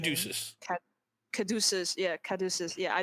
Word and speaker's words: Caduceus: How do you pronounce his name? Caduceus.